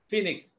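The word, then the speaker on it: Phoenix: The next word I have given is ഫീനിക്സ് അല്ലേ. ഫീനിക്സ് ഇത് ഉച്ചാരണം ഉണ്ട്. അതിന്റെ സ്പെല്ലിംഗ് എന്താണ്? പി എച്ച് നമ്മൾ ചിലര് ഉകാരം ചേർക്കും.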